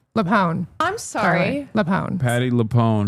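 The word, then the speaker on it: LuPone: Why are people mad at Patty Lew? Leone.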